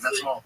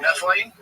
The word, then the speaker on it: methylene: That's like, and then I stumbled upon was it methanol blue? That's not how you say it. What is the actual methylene?